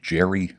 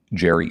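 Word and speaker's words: Jheri: hair industry the guy by the name of Jerry Redding he was born in 1907.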